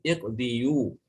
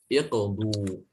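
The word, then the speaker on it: اقضوا: Kalau mau ikuti patennya berarti harusnya kan iqdiyu ya. Itu juga agak berat di lisan. Maka dia didomahkan. Iqdu, ituni dan seterusnya.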